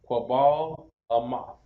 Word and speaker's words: Quabal Amath: Pronounce Quabal Amath.